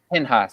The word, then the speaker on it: Pinchas: To Phineas, who Pinchas, also gets jealous. yes. Pinhas, Yes.